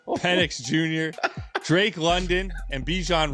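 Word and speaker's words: Penix: I'm like, are you doing this on How do you say this quarter? Penn. Oh, that's not a You just said Phoenix. Like penis. Yo, PennX Jr., Drake London, and Bejan Robinson.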